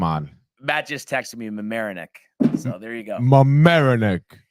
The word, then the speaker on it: Mamaroneck: lives in Merrimack or what how do you pronounce it Tony in New York America you don't know in Westchester marinick Mamaroneck yeah I can't believe you like you Mr